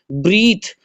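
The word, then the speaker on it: breathe: ब्रीथ, ब्रीथ में आखिर में जो ई खड़ा हुआ है इसमें आपका ई साइलेंट है।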